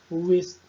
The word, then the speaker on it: wrist: E por fim aqui nesse slide nós temos o W, que sempre é mudo quando inicia a palavra e depois tem um R. Veja os exemplos. Rap, wreck, wrist, root e wrong.